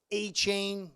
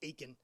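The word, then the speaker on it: Achane: I think A-Chain, drafted in the third. Thanks, brother, for teaching me how to say his name properly. I was calling him Aiken.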